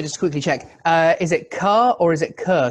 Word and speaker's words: Carr: Because I've sometimes heard car spelling pronounced Kerr. It's car, but I believe it's derived from the ancient Kerr as far as Scottishness goes, but it's pronounced car.